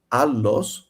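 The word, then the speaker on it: ἄλλος: For instance, the word alos is pronounced actually how I just did with a double with a long, not a double.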